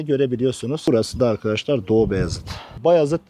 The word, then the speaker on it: Bayazıt: Bayazıt diye okunur. Doğubayazıt değil.